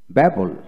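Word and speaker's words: babble: কোনো ওয়ার্ড এ দুটি বি থাকলে প্রথম বি নীরব থাকে, দ্যাট মিনস সাইলেন্ট হবে, উচ্চারণ হবে না, সাইলেন্স থাকবে। লক্ষ্য করেন, ব্যাবল ব্যাবল, বি A double B এল ই, ব্যাবল ব্যাবল।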